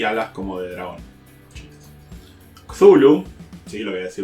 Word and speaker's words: Cthulhu: Hay un montón de formas de pronunciarlo. Ujú. La más aceptada supuestamente es Cthulhu.